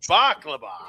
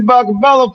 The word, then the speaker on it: Bakabella: I am talking about the one and the only, the Baklaba. What's going on there, buddy? You said my name wrong. Bakala, former WF Hall of Famer.